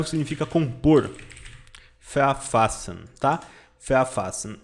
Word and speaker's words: verfassen: Verfassen. E a pronúncia dele é mais ou menos assim, ó. Verfassen, tá? Verfassen. A letra V tem som de F.